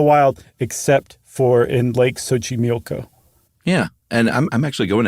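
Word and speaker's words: Xochimilco: really is it's Lake sochimilco and friends look up Sochi mioko it is not in any way shape or form as far as an English speaker is concerned spelled like it's pronounced yeah it's XO c-h-i-m-i-l-c-o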